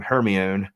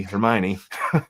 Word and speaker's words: Hermione: um one girl who I always pronounce her name Heron until I saw the movie Hermione um her she uh